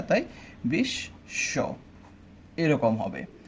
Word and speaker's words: বিশ্ব: তাই বিশ্ব এরকম হবে।